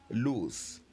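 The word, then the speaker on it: l'ours: we have here is loose. And again, how do we spell loose? As you can clearly see, loose is spelled L-O-U-R-S. O-U-R-S. Don't forget the L apostrophe. That's what we pronounce loose.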